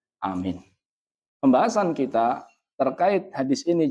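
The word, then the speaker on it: آمين: Berarti bacanya bukan amin a-nya enggak masuk ke huruf mim. Jadi ada dua bacaan bisa dipanjangkan amin. Anyya mad badal, mimnya mad arid lis sukun. Berarti yang benar amin.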